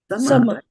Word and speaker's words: samavetā: You have to apply the same principle, right? Yes. If it was dharma over here, then why should it be sam? Why should this be called sama?